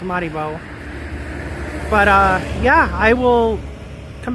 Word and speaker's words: Maribor: Maribor. Maribor. I think it's pronounced Maribor.